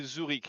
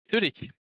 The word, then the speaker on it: Zürich: How do you say Zurich here? Is that Zurich? Zurich? Zürich.